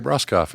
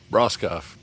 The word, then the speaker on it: Broscoff: If I was a hockey player, everybody would say my name right. Broscoff. Yeah, Yeah. they'd be like, Broscoff.